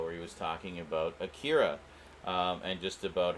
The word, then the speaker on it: Akira: and um he um he kept pronouncing it acura which i get it he he's a weeaboo as many of us are but um that that's not how it's pronounced like he was trying